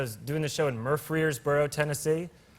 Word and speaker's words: Murfreesboro: early 20s, I was doing a show in Murfreesboro, Tennessee. Murfreesboro. I'm pronouncing it correctly. -Okay, okay. -I'm not mispronouncing it. -You're not -- no. -That's how it's pronounced. -That's a place. -Murfreesboro.